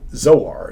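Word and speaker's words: Zoar: Um it's uh the word little um zor is really how you would pronounce it.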